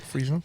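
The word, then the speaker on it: Friesland: the Crown Prince of freand did I say it right Freeland you did yes you did which is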